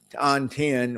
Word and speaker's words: dantian: So, Dan and Tan, that's kind of like the same, when you say Dantian with the T, think of the way you say butter. You don't really say butter, right?